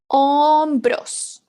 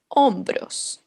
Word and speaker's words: hombros: cabeza we have Hombres remember the H when it's the first letter is silent in Spanish ombros the shoulders hombres Los Hombres Los hombrosius